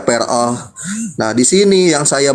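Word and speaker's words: פרעה: Pei, res, ayin, he, dibacanya peroh.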